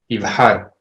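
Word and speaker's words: יבחר: Okay, so the normative pronunciation is just it's the same as chaf. Uh-huh. But this is actually closer to an H sound.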